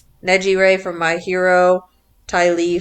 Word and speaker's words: Nejire: What did you say how to pronounce her name, Mike? Nejire. Neji Ray from My Hero, Ty Lee from Avatar, Kuwabaro's